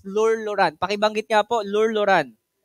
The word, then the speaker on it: Lueur Lauren: po no so Welcome sa ating company It's lur luran pakibanggit nga po lur luran ulit po lur luran luran Anong luluhuran Po lloran Po ha So yung pronunciation po